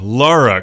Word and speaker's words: Lara: raider definitive edition starring lara croft who i always mispronounce as laura croft no wonder she doesn't